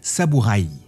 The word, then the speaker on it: saburai: En ce qui concerne le mot samuraï, à l’origine, il dérive des mots saburau et saburai, mais le i se prononce rapidement de façon à que ce ça sonne sa-bou-raye.